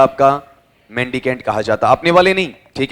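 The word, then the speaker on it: mendicant: मेंडीकेंट। Saint है या cantt है? बताओ स्पेलिंग बताओ। देखें एम ई एन डी आई सी एन टी।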